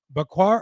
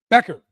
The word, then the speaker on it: Becker: Is it Bakar or Bakar? Becker. I was completely wrong.